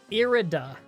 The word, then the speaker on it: Irida: caution in foresight ah her name is like the first bit of iridescent i getcha it's pronounced irida irida gotcha irida those